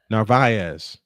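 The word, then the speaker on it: Narváez: To Carlos Narvaez.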